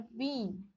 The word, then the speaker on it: बीन: देखिए, बिल और बीन बोलने में समय लगा। बिल जो बोले आपको उसको उच्चारण करते समय थोड़ा सा समय लगा, लेकिन जब बड़ी ई की मात्रा, जो बड़ी ई की उच्चारण जो आप शब्द बोलेंगे जैसे कि बीन, तो बीन को बोलने में थोड़ा ज़्यादा समय लगा।